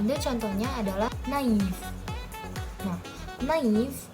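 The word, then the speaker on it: naïf: Nah, naif yang menggunakan aksen trema ini dibacanya naif. Naif. Sedangkan kalau dia nggak menggunakan aksen, dia dibacanya menjadi nef. Nef. Beda banget. Kenapa beda? Karena dalam bahasa Prancis A ketemu I itu dibaca E.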